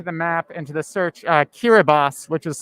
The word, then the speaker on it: Kiribati: Let's try typing into the map, into the search, Kiribati, which is spelled Kiribati.